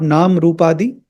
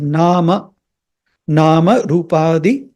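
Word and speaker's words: नामरूपादि: you pronounce this Mantra if you are still committing that mistake of nam nam why like Hindi people North Indian people do try to try to be attentive there it's not Nam rupadi it is n rupadi salutations to Amma who's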